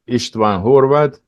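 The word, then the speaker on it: István Horváth: Yes, as Chris said, I am just Brother Istvan Horvath. That's the correct pronunciation in my language.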